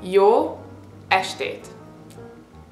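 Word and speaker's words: jó estét: you can say y again stands for good y ashate as means evening in Hungarian so you want to say yo asate and again one word yate okay let's practice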